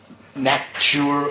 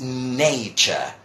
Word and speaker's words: nature: when they don't, people might say nature or natur or something like that, and this is nature.